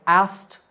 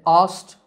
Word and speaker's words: asked: past tense of ask the trick to saying it correctly is to make the k silent so it sounds like asked in american english and asked in british english but in both we don't pronounce the que he asked me a